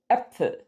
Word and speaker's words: Äpfel: Say bet or fed. It's also the eh in hello. Some examples of this sound in German, spelled with the A umlaut, are Männer, Hände, Bälle, Äpfel.